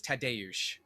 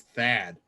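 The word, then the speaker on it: Tadeusz: or tadius but the the proper way to pronounce it is tadayush okay yeah when i first listened to the podcast i thought his name was thad tagged which maybe which made me think of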